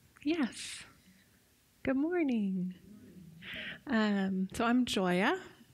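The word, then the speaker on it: Gioia: good morning so I'm Joya it's spelled GI oia but it's pronounced joy with an A at the end it's Italian and I'm going to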